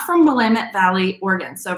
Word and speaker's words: Willamette: borg is not from willamette valley oregon so remember it's willamette dammit um that's how it's pronounced um not willamette so willamette that's where